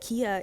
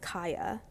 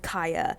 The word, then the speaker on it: Khia: the I learned that Kia is actually pronounced Kaya. So it's not like Kia the car.